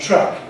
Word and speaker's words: truck: And so this is the difference between track and truck, and track and truck. And I know that from a Japanese point of view, both of these seem to be the same thing.